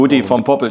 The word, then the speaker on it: Gudy von Poppel: Habe ich es jetzt richtig ausgesprochen? Jetzt hast du es mal richtig gesprochen. Goodie vom Poppel.